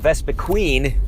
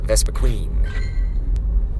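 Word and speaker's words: Vespiquen: female combis or vespiquin if anybody is saying vespa queen it is not vesper queen but i actually keep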